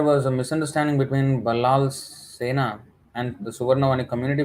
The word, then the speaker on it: Sen: Although we pronounce it as Sena, but actually it's Sen.